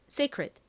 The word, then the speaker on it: secret: 자, 다음 t는 원래는 티소리트 소리가 나는데 이렇게 끝부분에 오면 굉장히 약하게 발음이 납니다. 그래서 secret secret secret 이렇게 거의 받침처럼 들려요.